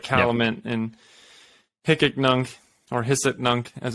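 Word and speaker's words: Hic et Nunc: the tesla's blockchain like caliman and picknung or hisset nunc as it's pronounced apparently i didn't know that yeah thank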